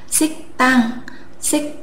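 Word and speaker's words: 식당: phụ âm căng thì ở đây chúng ta sẽ không đọc là ship hàng mà chúng ta sẽ gặp là xích tang tan xích tang nghĩa là nhà ăn tiếp theo chúng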